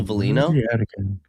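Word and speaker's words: Veleno: Joe Valino.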